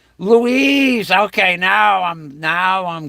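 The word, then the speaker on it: Luis: famous a masculine name Louis is a masculine name of Spanish origin pronounced Louise Louise Louise okay now I'm now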